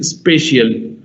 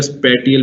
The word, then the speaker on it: spatial: वन इज स्पेशियल, SPATIAL, that is स्पेशियल, एंड कई जगह स्पेटियल भी प्रोनाउंस करते हैं, कुछ लोग स्पेशियल भी कर सकते हैं, सो इट्स अप टू यू।